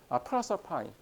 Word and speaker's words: Proserpine: 그런데 이제 영어식 발음은 프로서파인. 영어식 발음은 이제 프로서파인이 되는 것이죠.